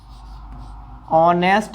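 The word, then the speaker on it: honest: अब देखिए यहां पे हमें ऑनेस्ट, ये जो है वैसे तो ये कॉन्सोनेंट है, क्या है? कॉन्सोनेंट। लेकिन जब इसका हम प्रोनाउंसिएशन करते हैं तो इसका साउंड ओ का निकलता है।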